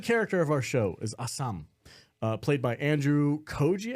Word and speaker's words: Ah Sahm: his TV show awesome is that what Ashan means no it's pronounced Assam but if you think